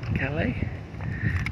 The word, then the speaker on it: Calais: Cadillac Cadillac that's how you pronounce them right Kelly yes it's silent right I thought it was